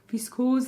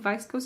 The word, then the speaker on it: viscose: the other one is that linen vice coast viscose that is the word in german i think vice ghost is how you say it in english um blend and so